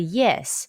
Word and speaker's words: ye: the initial e sound the pronunciation is like the ye in the english word yes but it's prolonged say ye remember your